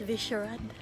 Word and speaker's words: Vyšehrad: Vyšehrad Sady, something hindi ko alam kung paano i-pronounce yung Sady. Basta yung Vyšehrad niya is Vyšehrad.